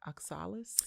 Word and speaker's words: oxalis: So you want to talk about the oxalis? You know, you told me before the show that was one of your faves, so I'm going to let you take it. So the thing about the oxalis, first of all, am I even saying it